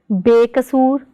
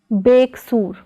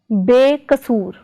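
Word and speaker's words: ਬੇਕਸੂਰ: Prefix be plus kasur is pronounced as bekasur, not as beksur, but as bekasur.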